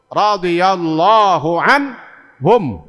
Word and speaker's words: radhiyallahu anhum: Maka jawabnya kalau 4-4-nya disebut radhiyallahu anhum.